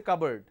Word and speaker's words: cupboard: at home that's a cupboard cupboard has no connection with cup neither it has any connection with board that's a completely different word so when I have